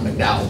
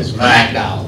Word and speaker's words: McDowell: other young men, McDowell, is that, not McDowell, but McDowell. McDowell, yes, sir.